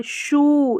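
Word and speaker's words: shoe: चलिए आगे बढ़ते हैं अगर ओ ई साथ में आ जाएगा तो ओ या उऊ जैसे कि टो इसमें ओ का साउंड आ रहा है शू इसमें उ का साउंड आ शू यानी बड़े उ के रूप में यह इसका प्रोनंसिएशन रहेगा ओ ई का कॉमिनेशन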